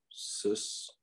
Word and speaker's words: systole: The contraction part is called systole. And it is pronounced systole. And the relaxation part diastole, which is pronounced diastole. So you'll hear people say systole and diastole all day long.